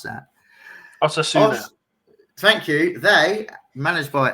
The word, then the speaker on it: Osasuna: Okay, first, can I just say, before we get into what is on the left-hand side, Osasuna, I can never pronounce that. Osasuna.